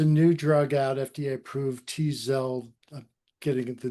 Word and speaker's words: Tzield: 1, there's a new drug out, FDA approved, Tzield. I'm getting the name wrong, but no, it's right. It's Tzield.